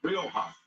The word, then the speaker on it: Rioja: Ryoka, yes. How do you pronounce it? Rioja.